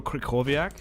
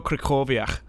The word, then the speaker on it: Krychowiak: I think you say Gregor Krychowiak. I think that's how you say his name. But it's like not spelt that way.